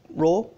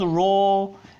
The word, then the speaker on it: Rho: in a Greek letter called Rho and it pronounces like our it you know looks